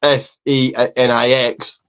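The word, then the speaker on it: Fénix: I'm going to say Okay, Phoenix. Even though it's spelled F E N I X, so it's Fenix, but whatever.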